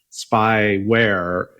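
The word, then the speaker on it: SpAIware: to pronounce the attack I think it's spy wear yeah it's literally just the the play with the words SP P AI r e for our our viewers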